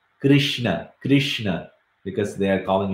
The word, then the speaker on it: Krishna: is a controversial sound many people will pronounce it differently even in india if it goes uh to some place they will say and in some other place they will say so they will say this letter you know is so famous that it's also there in the name of krishna so i see this one here krishna krishna so some people will say krishna because they are